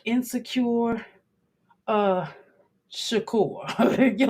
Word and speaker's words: Shakur: you like insecure uh Shakur you're like insecure Tupac Shakur okay and I'm not calling Tac inse insecure I'm just saying the last name you rhyme your energy rhymes with secure okay that's what it